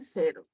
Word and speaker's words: cero: ocho nueve y cero Okay el cero tiene un sonido aquí como si fuese una doble s cero sí no decimos cero no no no decimos cero como si fuese una doblez Okay uno dos es tanto